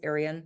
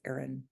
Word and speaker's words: Aeryon: So like people think it's Arian, but it's Aaron.